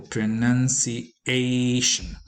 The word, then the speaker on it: pronunciation: first syllable and interestingly pronunciation is accented on the fourth syllable pronunciation and maintenance is accented